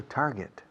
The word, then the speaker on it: target: El verbo to get, se pronuncia get, ¿no? Pues pon tar delante, target, y ya está.